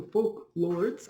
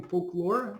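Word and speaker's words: Folklords: sir track 57 star trek 24 and folklore number two so folk lords i should say i'm saying it wrong i'm saying folklore it spoke lords okay uh and then it's uh star trek number 40.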